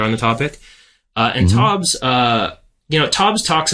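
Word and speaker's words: Taubes: if you read uh I believe his laston pronounced TOS I don't think I've ever heard anyone else pronounce it Gary TOS right is that him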